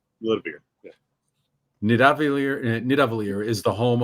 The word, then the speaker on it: Nidavellir: I was trying to find the pronunciation. I just had the spelling. Got to listen to the Google. Like, oh, it's Nidavellir.